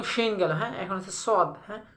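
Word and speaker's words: ص: এখন হচ্ছে সদ, হ্যাঁ, সদের উচ্চারণটা কেমন হবে, সদ জব স, হ্যাঁ, স সি সি সো সো সো, স সি সো, একটু মোটা হবে, হ্যাঁ, সদ জব স।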